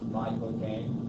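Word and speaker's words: Michael Caine: actor Michael Kan ality if you say my cocaine like the drug my cocaine that's exactly how he says his accent it's all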